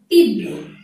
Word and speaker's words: তীব্র: যদি রফলযুক্ত বর্ণ শব্দের শেষে থাকে, যেমন তীব্র, প্রায় প্রায় পরীক্ষায় এই শব্দটি এসে থাকে, তখন উচ্চারণটি কি হবে? তীব্র, তীব্র, তীব্র।